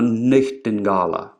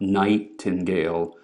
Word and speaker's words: nightingala: I was talking about, English was still pronounced with what are usually called pure vowels or even continental European vowels. Dala, not dale. Grete, not great. Nightingala, not nightingale.